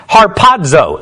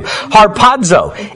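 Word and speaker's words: ἁρπάζω: from the greek word harpazzo is how you would pronounce it when you're trying to say it in english and don't really know greek like i do harpazzo and what it means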